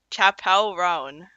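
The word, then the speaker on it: Chappell Roan: Chapel rone.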